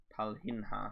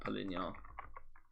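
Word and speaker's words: Palhinha: finally sort that out Palin that makes no sense being spelled like that poar it's p LH I nhha that makes no sense to me but the game has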